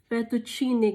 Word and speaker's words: fettuccine: um correctly but uh fettuccine guys so it's like the you put emphasis on the double t and then the double c is like chair like uh so fettuccine in a creamy parmesan